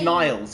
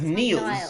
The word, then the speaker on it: Niles: you're getting the compliments it's Niles yeah cuz Neil would be said ne ne n Niles Niles all right Niles right yeah good I'm